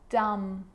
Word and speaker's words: dumb: Now there's a rule to remember with the letter B. It's always silent when it follows the letter M. Climb, crumb, lamb, thumb, dumb, and plumber. So practice them with me. I'm not pronouncing the B, I'm just pronouncing the M consonant sound.